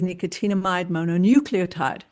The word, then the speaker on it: nicotinamide mononucleotide: And that is nicotinamide mononucleotide. Thank you for pronouncing that properly, Vanita.